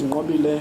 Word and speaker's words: Nqobile: My name is Nqobile for proper pronunciation, and the surname is.